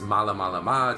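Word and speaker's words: Malamalama: my next adventure and that is spelled exactly how it sounds except they're two A's in the first syllable so it's M double a la ma la ma mala mala ma okay so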